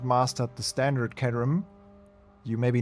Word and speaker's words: Caterham: Learning of the day for me, how to pronounce Caterham correctly. Caterham.